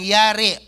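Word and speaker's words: ירא: ay hinugot sa salitang yari and it is pronounced as yar ang ibig sabihin po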